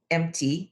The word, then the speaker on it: MTL: Yes, and it's spelled empty, EMPTY, but it's correct. MTL is the airport code for Montreal because it's Montreal style bagels.